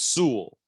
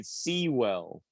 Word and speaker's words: Sewell: It's Sewell. That's what he always says in his press I conferences. I always screw up and say Sewell, which isn't That's right at all.